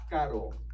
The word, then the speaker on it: caro: So it kind of sounds like this. Caro. Caro. Try to say it. I can't say it. All right, if you're thinking right now, I can't do that with my R's, it's okay. I hear that all the time with my students, but you can do it. It takes some practice, but keep working on it. Try to say caro.